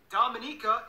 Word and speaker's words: Dominica: Dominica, yes, that's how you pronounce it, is coming up next.